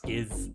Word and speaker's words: SKZ: Stray Kids, also known as SKZ, pronounced Skiz.